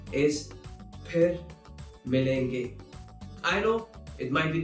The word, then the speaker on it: फिर मिलेंगे: There's no f sound in Hindi.